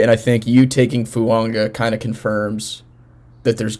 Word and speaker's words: Fuaga: I think Talizi Fuaga, or Fuanga, as I recently found out how it's pronounced, is the perfect pick here.